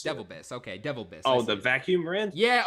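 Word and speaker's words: DeVilbiss: Devil Biss. Devil Biss. Okay, Devil Biss.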